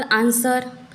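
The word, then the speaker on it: answer: रखना है for example आंसर यहां पर हम इस डब्लू का उच्चारण नहीं करते यहां पर य साइलेंट लेटर हो जाता है आंसर सर्ड यहां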